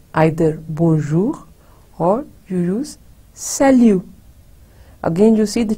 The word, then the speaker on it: salut: bonjour or you use salut. Again, you see the T is, we don't pronounce, it's silent. Salut.